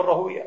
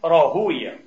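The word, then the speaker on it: راهويه: طبعا يا اخواني اسماء المحدثين مثل مردوية وراهوية هكذا تلفظ عند المحدثين، عند النحاة ابن راهوي وهكذا مثل سيباوي، لكن عند المحدثين بدونش راهوي، غلط، عند المحدثين راهوية، اسحاق ابن ابراهيم الحنظلي ابن راهوية قدس الله سره، هيك المحدثين يرفضونها غير لفظ ايش النحاة، انتبهوا.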